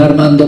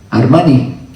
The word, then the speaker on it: Armani: ¿O un Armando, cómo se dice? ¿Ah? Armani. Con un Armani, creo que se dice, ¿no?